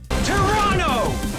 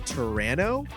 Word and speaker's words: Tyranno: Thundercast to do ADR, but mispronouncing Tyranno? Like, who says Toronto like that? Like Tyrannosaurus? Sounds as if they were halfway to saying Serrano Pepper or Toronto, Canada.